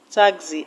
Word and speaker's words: taxi: Taxi is a noun, and like I told you, you stress the first syllable in a noun. In a noun that is 2 syllabic, taxi has 2 syllables, so the stress will go to the first syllable, ta.